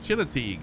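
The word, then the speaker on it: Chincoteague: just going to fly over it no the chino teague vfc keeps a herd of wild ponies on an island they swim across once a year and auctions them off oh china teague okay thank you for that pronunciation viper chinook the big post thank you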